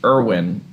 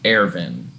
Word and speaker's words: Erwin: I've gotten a lot of comments from people from Germany saying that the way that they tried to pronounce his name in dub is actually incorrect. It should be Erwin instead of Ervin.